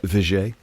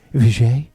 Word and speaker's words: Vigier: Yeah, Vigier. Vigier. Vigier. And I always get it wrong. I'm like Vigier or Vigier.